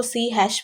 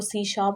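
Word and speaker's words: C#: कुछ स्टूडेंट्स इसको सी हैश भी बोलते हैं, जो कि रॉन्ग प्रोनाउंसिएशन है, इसको सी शार्प बोला जाता है।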